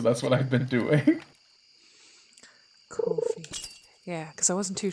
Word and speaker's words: Ko-fi: but because I'm like, is it Ko-fi? Is it? I think that's how a lot of people pronounces it, but not my French ass. Because I was always saying it Kofi because I assume it's a play on the word coffee.